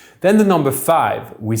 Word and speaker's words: cinq: where we usually say 5 minutes with a silent Q.